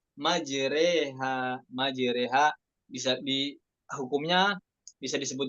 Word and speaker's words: مجريها: Yang lain, riwayat lain dibaca mujoroha, ya Hafiz dibaca majreha. Majreha bisa hukumnya bisa disebut juga imalah kubro ya. Majreha, majreha tumalu fathatur ra ma bainal fathah wal kasrah.